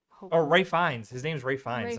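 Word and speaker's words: Ralph Fiennes: Which uh Ralph Fianz, is that how you say his name?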